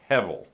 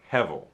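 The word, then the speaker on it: הֶבֶל: and you want to try to pronounce that it's hevel hevel okay hebel means a vapor or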